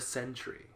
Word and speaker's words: Sentry: this character right here yeah this is the Sentry have we ever talked about the centuries and Century spelled with a c no well not this one